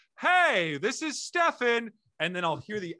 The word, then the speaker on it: Steven: you on the pod my name is stefan by the way i know it's spelled like steven but um it's uh